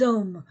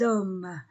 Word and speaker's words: hommes: entre deux voyelles les hommes je ne prononce pas le H je ne prononce pas le S les hommes les hommes le crayon